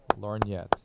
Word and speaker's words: lorgnette: How do you pronounce that again? Lorgnette.